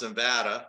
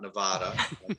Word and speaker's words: Nevada: only integrated delivery system in nevada and it's pronounced nevada not nevada i learned that early on in my tenure